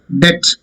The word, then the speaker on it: debt: Debt. You borrow some money from your friend, then that is debt. Debt means apo. B. It's not debt. It is debt.